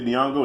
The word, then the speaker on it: Nyong'o: to today's times you have a little Lupita Nyong'o that's how you say it last name Pepita